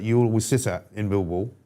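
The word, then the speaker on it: Millwall: always sit at in Mil Wall, Milw Wall as it's sometimes pronounced and you watch your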